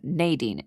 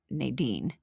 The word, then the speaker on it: Nadine: Oh, but it looks like it's Nadine, not Nadine, based on the pronunciation that's written in the parentheses.